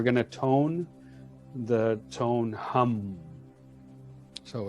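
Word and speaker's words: Ham: And we're going to tone the tone hum. So it's spelled H-A-M, but it's pronounced H-U-M. So it's like humming.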